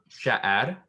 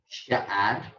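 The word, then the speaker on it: שער: We have Sha'ad. Sha'ad. Okay. And this one kind of sounds like the word Shire, like in the Lord of the Rings.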